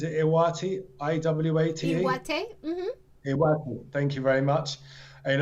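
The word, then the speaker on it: 岩手: Iwate.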